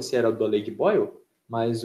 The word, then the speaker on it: Boyle: O nome dele parece a pronúncia de fervendo em inglês. O nome do cara é Boyle.